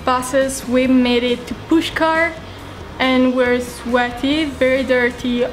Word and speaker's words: Pushkar: little bit and then explore push car yes did I say it right yeah you did all right see you